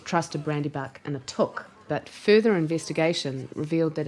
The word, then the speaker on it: Took: What we discovered, when we discovered that the proper pronunciation is took, I did a little